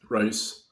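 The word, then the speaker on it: Rys: Alien scientist the YouTube channel for Jeremy um rice and or Reese Reese is how his last name pronounced anyway so I was making the claim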